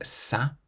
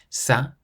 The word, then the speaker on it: ça: Whenever you see the letter C with a cedilla, that little squiggle underneath it, you always pronounce it like an S, so a S sound. For example, ça. Ça means that.